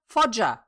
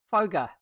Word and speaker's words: Foger: Fodger. Fodger, not Fogger. They decided to give us what it might rhyme with in this book, book number four.